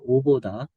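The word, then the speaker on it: Avdat: 오보다. 영어 발음으로는 이제 아브답이라고 하는데, 요 오보다가 그 이스라엘의 내셔널 국립공원이 한, 한 50여 군데 될까요?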